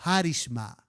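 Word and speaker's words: χάρισμα: Los que son expertos en griego nos dicen que esa palabra se pronuncia como charisma.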